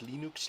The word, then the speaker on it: Linux: is venus torvalds and i pronounce linux linux that was an old sound recording that came with the early installs of linux to tell people how to pronounce it knowing that they would